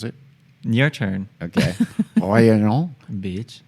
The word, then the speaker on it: Réunion: Réunion. bitch. Just see, you pronounce it like you're not actually having different syllables.